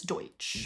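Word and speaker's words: Deutch: How do you say I think it's Deutsch. Deutsch.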